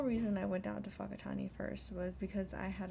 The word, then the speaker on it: Whakatane: It started out with a trip to Whakatane, and that sounds like a funny name for a city, and it does sound a little bit funny. It's spelled W-H-A-K-A-T-A-N-E, Whakatane.